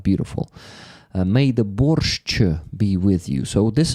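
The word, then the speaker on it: борщ: So it's borch. It's the proper way to spell it. Okay. The spelling, the right spelling. Uh so usually everyone is using the letter T in the end. No, in Ukraine we don't do that. There's no T in our borch. So borch let me that's how it is spelled in Ukrainian. So basically chu equals sh h ch. That's what borch that's what in borch is.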